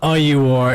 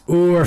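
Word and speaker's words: Ór: you something everyone listening it's not Aur it's not e it's not like the these guys on this podcast including myself uh Ian and Quil pronouncing it wrong everyone pronouncing it wrong it's or Fighting Championships and it goes down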